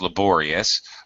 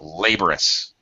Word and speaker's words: laborious: laborious reduced laborous laborous it's just really fast and it's reduced to awah sound instead of laborious laborous basically what I'm doing actually is I'm instead of stressing the middle syllable I'm stressing the first syllable so you will hear that it is basically a reduced form technically speaking not correct but common uh okay Julio what